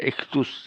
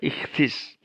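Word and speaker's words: ἰχθύς: epsilon ada es ichthys jadi punya ucapannya ichthys ada yang membaca ichtus ya tapi itu kliru ya harusnya dibaca ichthys kemudian V nah vinidy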